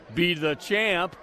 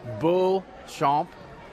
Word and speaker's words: Beauchamp: Okay, I believe this is Kaylee well, it's a French pronunciation. I told her I'd pronounce it Be the Champ, but it's Beauchamp, I believe is her name.